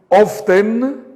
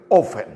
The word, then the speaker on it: often: Algunas personas de habla inglesa pronuncian la T. Algunas no lo pronuncian. Algunas personas dicen often y algunas dicen often.